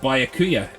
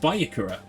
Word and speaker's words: Byakuya: Oh yeah, but we used to pronounce it Byakuya, but I guess we were wrong, right? Byakuya.